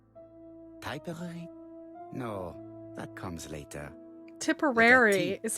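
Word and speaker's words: Tipperary: to go still typy no that comes later tiporary is how that's pronounced little incident will take place in Doncaster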